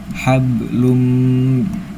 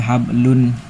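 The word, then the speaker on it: حبل: Jadi tidak dibaca hablun hablun. Tidak seperti itu ya, Teman-teman. Tapi langsung masuk ke mim. Jadi hablum dan didengungkan ditahan.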